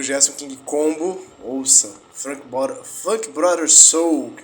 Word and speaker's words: Gerson King Combo: Gerson King Congo ou King Combo? O cara faleceu, o rei do funk, né? Gerson King Combo.